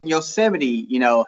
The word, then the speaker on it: Yosemite: He knows what fucking Yosemite, is how that shit's pronounced.